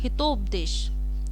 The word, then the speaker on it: हितोपदेश: तो मैं जब प्रोनाउंसिएशन बोल रही हूँ, मैं बोल रही हूँ हितोपदेश, तो हित प्लस उपदेश।